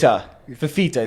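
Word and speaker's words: Fifita: Fafita is how you pronounce it.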